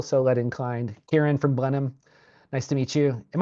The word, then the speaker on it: Blenheim: Nope, you're right, Blenheim. Blenheim. A really strong ginger ale from North Carolina taught me how to pronounce that correctly.